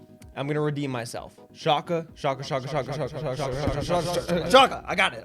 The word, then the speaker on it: Schalke: was just wrong okay i said shock over and over again and it is shaka all right so i i apologize for that but here we are i'm going to redeem myself shaka shaka chaka i got